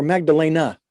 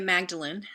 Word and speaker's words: Magdalene: maybe i'm pretty mispronouncing is this magdalene or magdalena well it's mary magdalene okay mary magdalene flower